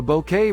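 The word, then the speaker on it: Bucket: in your purse Kanye pronouncing your name bouquet obligatory the bouquet residents the lady of the house speaking spelled B uck et ha ha my uncle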